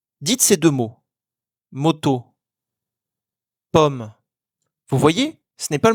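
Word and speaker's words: ผม: On dit pomme, comme une pomme. Ce mot s'écrit sans aucune voyelle. C'est donc le O de moto qu'il faut prononcer de façon courte.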